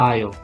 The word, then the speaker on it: aisle: this is another show and this is the aisle exactly so these are the seats the seats